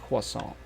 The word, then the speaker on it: croissant: Quas if in French it's it's pronounced quasant.